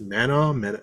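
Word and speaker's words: Manaugh: how to pronounce his it's Mana m a n a u g h man mana mana it's like you it's like it's like Edinburgh you don't you know it's not the way you pronounce is so different but that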